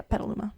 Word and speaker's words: Petaluma: her sick mother in Petaluma. Right? That's how you say it? Yeah, Petaluma.